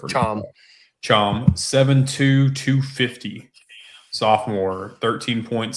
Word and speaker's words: Cham: Mustafa Cham, or Chom, told me how to pronounce that earlier. Chom.